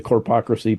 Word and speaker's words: corpocracy: I don't call it a corporatocracy because there's no need for that extra syllable. It's a corpocracy.